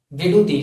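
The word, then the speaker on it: விடுதி: that represents Vidudhi, V-I-D-U-D-H-I, Vidudhi. So you have to pronounce this as Vidudhi, Vidudhi, Vidu plus D called Vidudhi.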